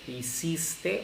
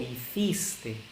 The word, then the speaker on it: hiciste: En la segunda persona, en el tratamiento informal, hiciste o hiciste, ¿no?